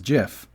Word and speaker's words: GIF: wild of the internet there was a time when the only correct pronunciation was jif in the entire world this anecdote actually gets